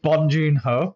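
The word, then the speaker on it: Bong Joon-ho: It's It's Bonjunh Ho.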